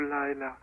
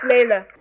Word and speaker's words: Layla: I remember at that time, you know, my friend, so you have talked to Lila. Oh. That's Layla.